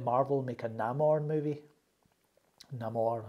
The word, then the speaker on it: Namor: Namor, how you say his name.